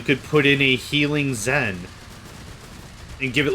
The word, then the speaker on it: XEN: Uh there's a turret they added about like five months ago called the XEN pronounced Zen turret and in it you put the Zen pieces that you would normally put inside of your gun.